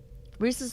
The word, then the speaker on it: Reese's: Reese's supposed to rhyme with pieces. Not everybody says it that way, though.